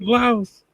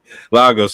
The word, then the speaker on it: Lagos: This nigga said Laos. But Lagos.